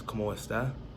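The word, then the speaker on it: como estás: So in Spanish it's como está, so that's spelled COMOESTAS, so como está.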